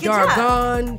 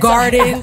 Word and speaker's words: Dargan: Dragon, like, Dargan. Oh, amazing. Darius. Because, yeah, because I am known for mispronouncing names. Some people just say. It's Irish. Somebody said garden.